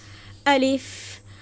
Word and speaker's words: الف: এজন্য আলিফ আলিফ আলিফ। দেখেন বাতাস বের হচ্ছে। তাহলে এটা কেন বের হচ্ছে? কারণ আরবি হরফ বারণ করার শেষে আলিফের শেষে হচ্ছে ফা আছে। এজন্য বাতাসটা বের হচ্ছে।